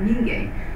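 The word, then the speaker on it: Mingei: So Yanagi Muneyoshi's Minye, in Korea we say Minye, the art of people. In Japan it is said Minge.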